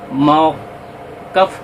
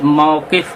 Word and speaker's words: موقف: صوفی صاحب نے یہ ویڈیو میں موقف کا الفاظ استعمال کیا ہے، کاف کے جبر کے ساتھ، جبکہ صحیح تلفظ موقف ہے کاف کے زیر کے ساتھ.